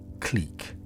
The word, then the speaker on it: clique: The second rule, don't pronounce like the French, is broken for just 2 words. These 2 are known as the exemption words. The first is beloved in my native Scotland. It's clique. C-L-I-Q-U-E.